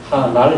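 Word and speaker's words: 하ᄂᆞᆯ: 기 하늘 쓰지 않고 아를 찍었기 때문에 발음은 하날 했습니다 그래서 하날 하 하날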